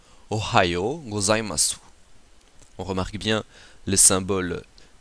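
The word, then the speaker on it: ohayō gozaimasu: Nous avons ici le O, le ha, le yo, u, go, za, i, ma, su. Ce qui donne Ohayo gozaimasu.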